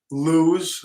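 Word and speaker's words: Lew's: good reel uh and then I have two Loos I think that's how you say it l-e-w-s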